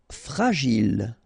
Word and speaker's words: fragile: Fragile, okay, final E not pronounced, and then when you get this G and I, J, Gilles, fragile.